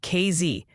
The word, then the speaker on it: Casey: Casey, Illinois is apparently KZ and it seems Jerel is the winning pronunciation for Jerel, Texas.